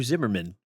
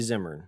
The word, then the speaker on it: Zimmern: You pronounce his name Zimmern. It's actually Zimmern. It's Zimmern, yeah.